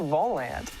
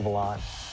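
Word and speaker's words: Volante: Lately, you might have seen one of these red stands around campus and wondered, hey, what's the Volant? Well, actually, it's pronounced the Volant.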